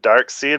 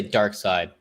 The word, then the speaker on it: Darkseid: i guess dark side i thought it was canon that it was dark side but i always pronounce it dark seed yeah i don't know